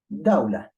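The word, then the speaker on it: دولة: For example, you have the word dawla. You do not pronounce it.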